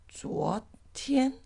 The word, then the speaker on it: 昨天: And yesterday is 昨天. 昨天. How do you pronounce that Z? Z. That's the D and the Z. Z together. Z.